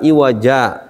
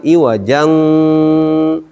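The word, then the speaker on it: عوجا: buku almbarak kalimat bahwa saktah di sini untuk menghindari bacaan Ikhfa jadi harus dibaca iwaja jangan iwajang Terutama ketika akan diwasal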